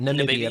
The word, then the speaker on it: Namibia: I feel like I said it right the first time. I just kind of slurred it, but Namibia.